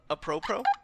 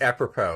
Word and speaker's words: apropos: Apropos? Yeah. No. I love you, Johnny. Can you pronounce all my words? Sorry, it's apropos.